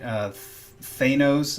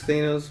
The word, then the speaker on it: Thanos: I used to think it was Thanos, but they said Thanos in the movie, so that's what I'm going off of.